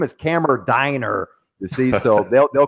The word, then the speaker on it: Kammerdiener: If I was in Germany, what would be the proper way to say your last name? Kammerdiener. Yes. Kammerdiener. That's German.